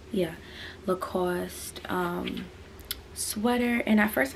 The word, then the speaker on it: Lacoste: next item is this look how do you pronounce this again i don't even want to say it wrong it's a lacoste yeah lacoste um sweater and at first i did not